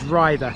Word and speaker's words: Ryther: This is Rhither, although I pronounced it Rhither in an episode of the Parish Notice Board not too long ago. This is Rhither.